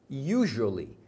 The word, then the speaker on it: usually: quando eles estão atrasados usually usually significa geralmente um detalhe que a pronúncia de usually é com um som de J Então esse S do usually você pronuncia como se fosse um J US get up early